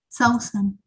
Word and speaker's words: Susan: How do you say it? Sausen. Sausen.